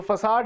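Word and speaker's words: façade: जो आर्टिफिशियल होता है बेसिकली सी जो फसाड है इसकी स्पेलिंग देखिए।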